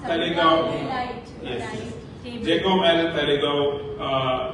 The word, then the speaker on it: Taleigao: So all the members of Talegaon, how it's pronounced? Talegaon.